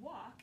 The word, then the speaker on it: walk: And then walk is one of our words from silent letters because you don't hear the L, right? So walk and talk both have that LK at the end.